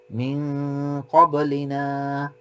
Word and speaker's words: من قبلنا: من قبلنا من قبلنا কলকলাটা make sure করবো আমরা, কলকলা দিচ্ছি মিন ক্বাবলিনা ربنا ولا تحملنا ما